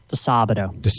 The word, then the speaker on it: Disabato: how do you say your last name again doab doab okay there we go um we're talking